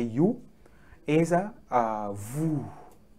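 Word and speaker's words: vous: say you is a voo please don't say vuz it is a voo this is silent you get it it is not vuz hope you understand this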